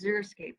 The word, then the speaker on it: xeriscape: a dry copy and even though it starts with an x it's pronounced z xerox so they have